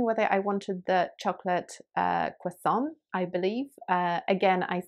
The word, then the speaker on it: croissant: asking for because of my pronunciation of the word croissant uh which is um stressed differently to how american english speakers would stress it so that's another kind